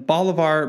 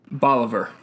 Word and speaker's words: Bolivar: lives with his wife and three children in bolar Missouri that's how you say it right Bolivar Boliver Boliver I was close close I I when